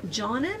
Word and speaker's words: Johnen: But anyway, so, and then that was the other thing too, is Joan Johnen, I think is how maybe we pronounce her name, J-O-H-N-E-N.